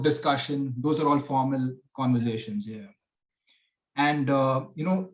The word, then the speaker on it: Converzation: the pronunciation is actually conversation like you you say it with a z not an s now you cover cover